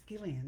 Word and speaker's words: Ghislaine: Okay, it's Gillian, is it? Yeah, It's spelled Gillane.